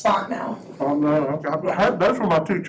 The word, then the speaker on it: Fontenot: Said it wrong twice, tell me how to say it. You're close, it's Fontenot.